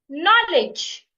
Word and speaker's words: knowledge: stressing the first syllable knowledge knowledge I'm stressing the first first syllable require require a stress